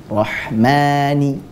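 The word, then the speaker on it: رَحْمَٰنِ: Harusnya ar-rahmani ini dibaca berapa harokat? 2 harokat. 2 harokat saja, sekali lagi. Tapi terkadang orang sering membacanya lebih dari 2 harokat. Saking keenakan membaca seperti ini. Bismillahirrahmanirrahim. Betul atau salah? Harusnya cukup Bismillahirrahmanirrahim. Rahmani. 2 harokat saja. Bukan Rahmanirrahim. Itu lebih. Bisa 3 atau 4 bahkan.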